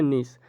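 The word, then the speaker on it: gneiss: ठीक है, यहाँ पर जी जो है वो साइलेंट हो जाता है, नीस ही वाक्य में प्रयोग आता है।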